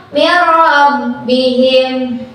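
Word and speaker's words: مِنْ رَبِّهِمْ: Nih, ini ada contoh min rabbihim. Min rabbihim. Cara bacanya nun matinya dimasukkan ke huruf ro tanpa ditahan. Jadi langsung aja min rabbihim.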